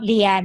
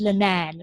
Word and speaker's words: Linan: Her name's Linan. It's not Leanne, it's Linan, right?